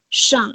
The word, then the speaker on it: 上: So here you can this is Shang, pronounced as Shang exactly. like in Shanghai, And right?